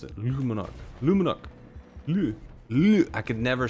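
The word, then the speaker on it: Le Monarque: monarch if you want to know how to pronounce it lumenok mmm I could never say that right in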